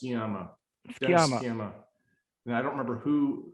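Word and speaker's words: Sciama: nice papers of dennis i think it's chiema how do you spell it in english s c i am uh actually i don't think i pronounced that right either but it's i believe it's pronounced skiamo and i don't remember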